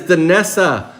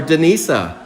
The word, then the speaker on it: Danessa: That is Danessa Undressa. Congratulations. Come on down. Most breakers call her Denisa. But for those that understand the vocabulary, it's Danessa. So pronounce it correctly. It's Danessa, boys and girls.